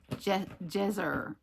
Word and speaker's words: Jezer: So here's one from Pat Jezer. She said, well, in her note in here, because I had stumbled over the pronunciation of her name, she said it's like treasure, only Jezer.